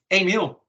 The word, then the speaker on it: Emiel: You would pronounce it the same way as if you would go to a restaurant and you order a meal. Nice. That's how you pronounce it. Emiel. It's easy as that.